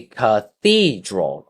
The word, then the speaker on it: cathedral: Three uh three syllables and the stress is on number two. It's going to be Cathedral.